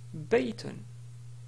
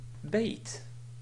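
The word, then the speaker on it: بيت: mot ici se prononce Biton mais on peut le prononcer d'une manière simple en disant bait donc on nécrit pas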